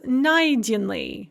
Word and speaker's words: найденный: So, for instance, найти, to find, она нашла, she found, becomes найденный, found, with the stress on the first syllable rather than the second syllable.